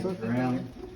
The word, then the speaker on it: Draheim: I say it rhymes with ham or spam or graham as in a graham cracker.